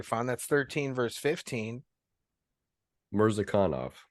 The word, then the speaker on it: Murzakanov: Murzakanov is how you hit the syllable on the wrong emphasis.